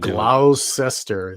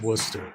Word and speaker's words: Worcester: You could say worester. I got to get that. Yeah. Yeah. Yeah. Austin accent. I can't even glowester is how it's spelled but it's Worcester or No, that's Gla.